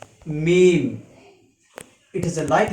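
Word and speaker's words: ميم: this shape without any direct remark is called meme it is a light letter so it can be pronounced easily its pronunciation in english is m double e m meme then uh lets pronounce each letter twice then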